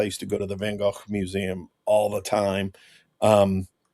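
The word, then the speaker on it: Van Gogh: Um the artwork behind me, that is actually just a print of the um Van I'll say it correctly, the Van Go uh painting.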